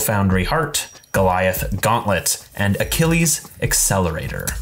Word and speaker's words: Achilles: Heart, Goliath Gauntlet, and Achilles Accelerator. Pretty sure that's pronounced Achille. Achille Accelerator.